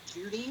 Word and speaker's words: Jeudy: Jerry Jeudy? Is that right? That's right. All right, I said it right.